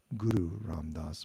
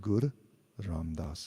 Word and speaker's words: Gur Ram Das: Sometimes I say, I'm not so perfect in my pronunciation either, so I noticed there I said Guru Ram Das, but it's actually written Gur Ram Das in that particular context.